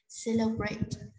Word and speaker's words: celebrate: Celebrate, đây là động từ có ba âm tiết. Âm cuối cùng là nguyên âm dài, vậy chúng ta nhấn trọng âm số 1, celebrate.